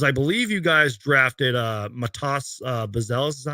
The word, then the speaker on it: Matas Buzelis: Like, just talk to us about the Chicago Bulls, because I believe you guys drafted Matas Buzelis.